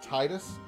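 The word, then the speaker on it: Tidus: this is how it titus is correct t i usually any letter that that any i that follows a single letter at the beginning of a name is always pronounced with a hard e sound like titus tifa so it makes sense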